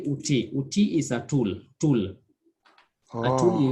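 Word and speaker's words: outil: Yeah, so util is uti. We say uti, not util.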